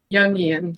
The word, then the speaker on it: Jungian: Jungian. Jungian? Okay. Yeah, like the word young. Jungian.